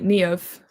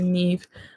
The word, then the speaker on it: Niamh: Yeah, my name is spelled the Irish way. It's N-I-A. It's the Irish say Niamh to actually get that A sound out, but over here in England, people say Neve.